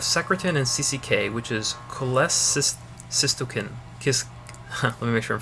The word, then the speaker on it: cholecystokinin: And then we have secretin and CCK, which is cholecystokinin. Let me make sure I'm pronouncing that.